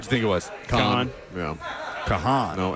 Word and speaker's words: Kahan: Kahan. Yeah. Kahan. No extra air in there.